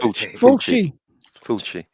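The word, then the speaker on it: Fulci: Yeah Fy Fi, how do you pronounce it anyway? But Fulchi Fi.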